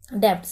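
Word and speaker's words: debts: हैं डेप्थ ठीक है यह पढ़ा जाता है डेप्थस में बी जो होता है वो साइलेंट होता है अगर आप कॉमर्स के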